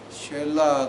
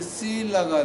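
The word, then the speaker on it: Selah: 자, 그 말을 히브리어로 바꾸면 쉘라가 됩니다. 자, 그 말을 영어로 발음하면 실라가 됩니다.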